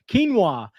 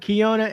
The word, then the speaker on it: quinoa: Quinoa. B Walker, man, I know. I call it Kiona, and the wife says, no, it's quinoa.